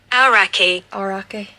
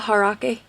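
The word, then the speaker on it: Aoraki: Arake. But I think it's kind of got a H sound as well, Harake.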